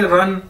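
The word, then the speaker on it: 人: और REN है हमारे पास एक चाइनीज वर्ड, इसको कैसे बोलेंगे? रन। जिस तरह हम कहते हैं दौड़ लगाना, रन।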